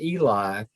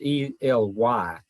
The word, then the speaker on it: Ely: It's not Eli. He corrected me on that. He spells it E-L-Y, and it's pronounced Ely. He said the Eli is spelled E-L-I.